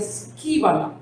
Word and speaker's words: skúbala: La palabra basura en el idioma original griego se escribe skúbala con una, vamos a decir, U. Se pronuncia skíbala. Esa es la manera en cómo pronunciamos la palabra basura en griego, que es una